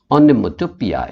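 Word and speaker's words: onomatopoeia: ठीक है, रोर्स जो है वो पोएटिक डिवाइस है ओनोमेटोपिया, right, the pronunciation is पिया, ओनोमेटोपिया, यानी something which gives the sound effect.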